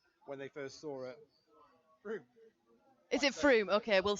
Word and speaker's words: Frome: So our West Country expert Dan has just said it's Froome, which is what I thought it was, but I didn't want to say anything. Well, but if you spell it with an O, then I'm going to say Frome. Absolutely. But he has corrected me, so I will say Froome from now on.